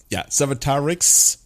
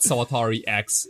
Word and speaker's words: Sawatarix: That's not the most audible, Sawatarix. Everybody's gonna spell that with a CKS in the end. Right. It's not Sawatari X. It's Sawatarix.